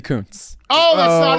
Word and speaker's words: Kuntz: was right no but you have to say the pronunciation always pronounce Coons no it's [ __